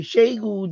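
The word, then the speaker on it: Xiegu: This is the computer that I had upstairs with the Zygo G90. Or the Shegu G90, how some people pronounce it.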